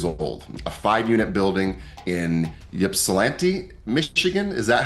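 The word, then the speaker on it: Ypsilanti: Stuart bought his first property at 19 years old, a 5-unit building in Yepsilante, Michigan. Is that how you say it, Stuart? That's right. Ipsellante, Michigan.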